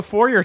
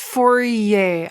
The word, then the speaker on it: Fourier: I'll just do a four-year transform on you that's fine do it it's pronounced Fourier I don't respect French